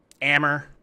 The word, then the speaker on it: Ammer: Ledges I guess wow ammer Emma thank you very much it's been very helpful you'll remember it because it rhymes with hammer yeah somewhere in the